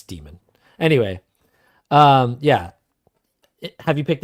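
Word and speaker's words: Daemon: It's pronounced Demon. I know it's I know, spelled but everybody Demon. says Damon. Yeah. It's Demon.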